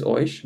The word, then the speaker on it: euch: But do they say like oik or oish?